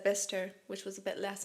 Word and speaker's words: Bicester: against a be that just isn't pronounced how it looks bister bister that's where I was going I was like I have to go to Bicester and they were like